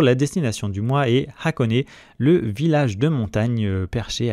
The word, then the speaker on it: Hakone: se prononce honé donc avec un h aspiré au début on peut aussi simplement